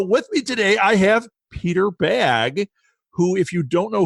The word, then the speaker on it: Bagge: Well, Peter Bagge. We've settled on that pronunciation.